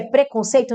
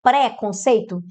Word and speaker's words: preconceito: Pró-vida, predestinar, átono, pôs, pôr, propor, prever, preconceito? A pronúncia é preconceito, não é pré-conceito?